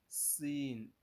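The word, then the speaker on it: سين: from this letter sin this letter is pronounced as Sin using letter s to pronounce it sin sin sin then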